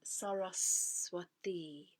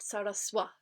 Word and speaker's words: Sarasvatī: And what is saraswati?